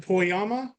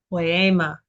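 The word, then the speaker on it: ποίημα: Is it is it Poyama? Very close, very close. Again, the eta is an A, the longer A sound. Poyama. Poema.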